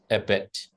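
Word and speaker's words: abbot: abet thank you AB you must pronounce this word as abet AB monaster is a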